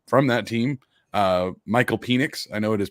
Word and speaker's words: Penix: uh and then from that team uh michael penix i know it is pronounced panics but i just can't it's penix phoenix is